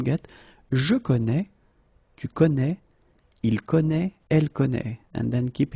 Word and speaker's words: connaît: Je connais, tu connais, il connaît, elle connaît. And keep in mind that it's a strange thing. I know, but you should put here this accent circonflexe. You don't pronounce it, I know that.